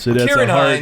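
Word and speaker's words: Ciarán Hinds: Kieran Hines. It's like uh like Killian Murphy. It's a hard Irish sea as as the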